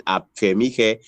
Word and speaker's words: Afemikhe: comes to, and then Afemikhe, so it's K, the KH is pronounced as he instead of ke, like some people will say.